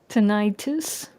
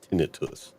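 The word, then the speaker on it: tinnitus: Tenitis. Well, a lot of people say it the correct way of pronouncing it is tinitus.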